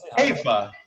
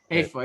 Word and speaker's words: Haifa: So Haifa or Haifa? I always say it wrong. Haifa or Haifa? What is it? Haifa. Haifa, yeah.